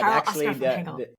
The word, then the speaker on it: Karel-Oscar van Hengel: You say Karel-Oscar van Hengel, but Karel-Oscar van Hengel.